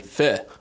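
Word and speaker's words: phở: Pho. Oh, Really? as in pho. Not faux.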